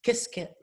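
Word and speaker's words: Qiskit: you know software Library which I'm told is pronounced kiss kit um and so uh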